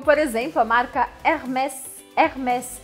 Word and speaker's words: Hermès: Hermès. Aqui é uma exceção, você precisa pronunciar o S, tá? Hermès.